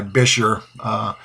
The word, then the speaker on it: bichir: a look at my bisher and that's how it's pronounced according to most dictionaries I could find it's a soft I like in the word kit Bichir as compared to biker or bi sure but anyways this is